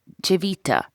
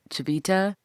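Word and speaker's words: Civita: You know the day of history lesson from Beth and it's called chevita. That's how they would pronounce it in Italy. I called it chvita.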